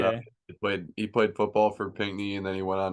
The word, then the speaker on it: Pinckney: Pinckney.